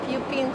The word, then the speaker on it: Pupin: standing in front of a historic building called puping Hall at Columbia Anthony pronounced it actually correctly it's pupin the name